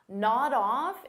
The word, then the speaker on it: nod off: Nod off is a phrasal verb, so we'll pronounce it as one word, nod off. So notice I'll take that D sound and I'll connect it on the off, but I have to combine it together.